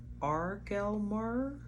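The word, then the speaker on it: Aurgelmir: be pronouncing this wrong it's spelled a UR g e l m i r and I'm going to say ar gelmer ar ar gelmer and fashioning his body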